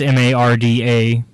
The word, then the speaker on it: Marda: Well, I'm pretty sure you won't mess up Marda, because that's Marda. Yeah. That spelled phonetically.